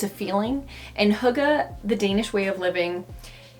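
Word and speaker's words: hygge: that i recently talked about huga and it's pronounced hookah even though it's spelled h-y-g-g-e and i said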